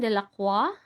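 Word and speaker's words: Delacroix: This is kay Eugene Delaqua. Liberty Leading the People. No, 'di ba? French kasi kaya ganyan pag-pronounce.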